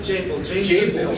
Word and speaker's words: Jabil: Am I pronouncing that right? Jabil? Jabil, yeah, Jabil, which I did not know about until coming to Florida.